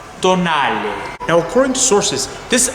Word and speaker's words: Tonale: that's right so um please excuse me if i'm not pronouncing it correctly but i always believed it's meant to be pronounced as tonight now according to sources